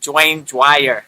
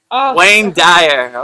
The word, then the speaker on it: Wayne Dyer: I'm trying not to mess it up like Dwayne Dwire, you know?